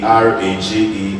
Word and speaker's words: garage: That's why we have GARAGE and it's pronounced as garage.